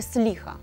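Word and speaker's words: סליחה: І вибачте, сліха. Сліха. Сліха. Все наголос на останній.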